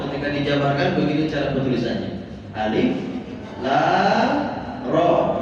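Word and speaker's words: الر: Alif lam ro. Ro-nya dua harokat karena tidak memiliki akhiran huruf ya. Huruf yang disukunkan.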